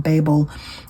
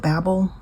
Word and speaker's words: Babel: And I've heard this pronounced Babel and Babel. I think the author pronounces it Babel. So that's what I'm going to go with. Babel versus Opal and Nev.